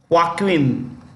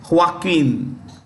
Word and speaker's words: Joaquin: us okay now Johnson Johnson is headed by Joaquin this J is pronounced with the ha H okay Joaquin duato that's the name of the CEO of